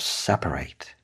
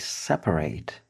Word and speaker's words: separate: 42% of married people in the UK separate. The verb separate means stop being together. The adjective is written exactly the same, but the pronunciation is a little different. Separate, an adjective. Separate is the verb.